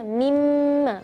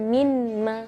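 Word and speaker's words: مما: Terus kalau nun sukun ketemu huruf mim, bacanya mimma, bukan minma, tapi mim, mim, bukan min, minma, bukan, tapi mimma. Jadi seolah-olah nun di situ tidak ada, ya.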